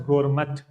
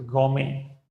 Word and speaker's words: gourmet: It should not be spoken as gourmet. It is gourmet, gourmet, understand.